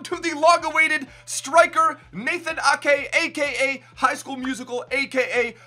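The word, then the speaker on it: Aké: Lordo01 says it's pronounced Nathan Akey's way. Come on, bro. Adam Metz says this episode was Ake. Neil says love you's way, but please, it's Nathan Ake.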